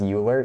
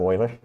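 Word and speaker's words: Euler: don't imagine this converges are they being pronounced uler yeah instead of Oiler so wait wait so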